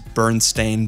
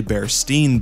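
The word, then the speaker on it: Berenstain: about the mandela effect the way bernstein bears is pronounced is bernstein bears but there's a lot of people who had the presumption that was originally bear steen bears s-t-e-i-n but it's s-t-a-i-n it's an interesting case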